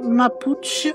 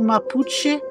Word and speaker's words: Mapuche: une petite présentation des mapuchch ou mapuchche excusez-moi de la prononciation j'ai plutôt à vouloir prononcer à l'espagnol qu'on se trouve en Chili Argentine et bien sachez que elle